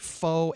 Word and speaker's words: Pho: Well, Side Street Pho, and yes, it's pronounced Pho, I have learned from many repeat offense in terms of pronouncing it wrong.